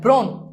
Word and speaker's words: ব্রণ: তাহলেও সেটা কি হবে ও হবে যেমন দেখো ব্রণ এই দেখো এই যে র ফালা আছে এজন্য